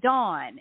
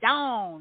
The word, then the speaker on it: Dawn: But people a lot of other places, like Pam, for example, call me Dawn. And it's like, it's Dawn. It's put the on in it.